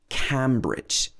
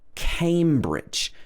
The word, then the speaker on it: Cambridge: uk it's cambridge but make sure that you don't pronounce this cambridge even though the name of the river is the river cam the name of the place is cambridge so the first vowel sound is an a a m it's got